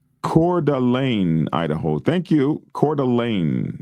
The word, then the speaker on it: Coeur d'Alene: Coeur d'Alene is how it's said.